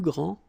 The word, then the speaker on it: grands: Il est le plus grand, elle est la plus grande, ils sont les plus grands, elles sont les plus grandes.